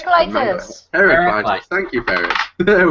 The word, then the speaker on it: Heraclitus: And I've been saying it that way until someone said it Heraclitus, the way you're supposed to say it.